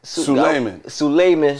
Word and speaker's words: Suleiman: streets we got Su how you say it Suman there you go I a want to [